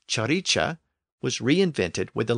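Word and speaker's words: ciric: Modern English word Rich the word c i r i c pronounced chicha was reinvented with the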